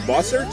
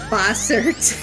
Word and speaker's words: Bossert: David oh you know I me your name boser boser thank you thank you you got it you